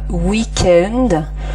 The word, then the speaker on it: week-end: Deux prononciations différentes, par exemple le W de wagon, donc là vous entendez V, wagon, comme le V, ou l'autre prononciation, donc c'est comme week-end, donc c'est souvent lorsque